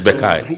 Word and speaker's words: Bekai: I hope I haven't butchered the name. No, it's Bekai.